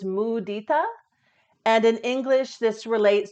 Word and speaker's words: mudita: joyfulness towards The Virtuous the Sanskrit pronunciation is mudita and in English this